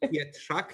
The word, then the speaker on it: Pietrzak: Pietrzak, you should pronounce it, but Polish names are difficult to be pronounced properly.